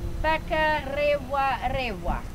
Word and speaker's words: Whakarewarewa: When we use the R, we roll our tongue. Whakarewarewa.